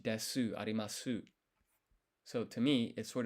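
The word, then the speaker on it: です: want this silent sound, the S is of the U here is of often skipped. So des when you write them, it's actually des.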